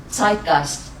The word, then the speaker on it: Zeitgeist: Zeitgeist.